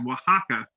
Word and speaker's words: Oaxaca: Diego Hernandez is from a town in Mexico called Oaxaca, which does not sound to me like it starts with an O, but that's how you spell it, Oaxaca.